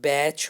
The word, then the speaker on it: batch: हो गया, या फिर बैच हो गया, BATCH, जिसमें टी साइलेंट है, बैच हो गया।